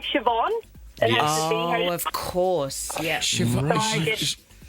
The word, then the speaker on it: Siobhan: And so the BH is pronounced as a V. Yeah, it's kind of like Siobhan.